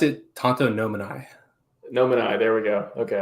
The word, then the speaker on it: tantonomini: is at tato nominee say that right i pronounced it tonto nominai nominai there we go okay i was like